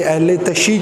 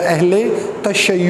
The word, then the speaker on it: اہل تشیع: تھے۔ معذرت کے ساتھ کچھ لوگ اسے اہل تشیع کہتے ہیں، یہ تلفظ جو ہے وہ ٹوٹل غلط ہے، درست تلفظ جو ہوتا ہے وہ اہل تشیع ہوتا ہے۔ تو اس حوالے سے